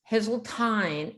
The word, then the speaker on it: Heseltine: And did I pronounce it right? Heseltine. Heseltine, and